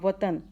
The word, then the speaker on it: وطن: تلفظ کی وضاحت کریں۔ دیکھیں واو کے اوپر وطن، واو کے اوپر زبر آئے گا، توئیں کے اوپر زبر آئے گا، نون ساکن ہوگا وطن۔ پھر سنسکرت، سنسکرت، سین